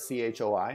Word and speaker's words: Choi: Korean last name, and it should be pronounced Che. But they spell it C-H-O-I, and they pronounce it Choi here. And yeah, you can correct it all you want, but, you know, at this point, if someone's last name is Choi, they go by Choi, and that's it.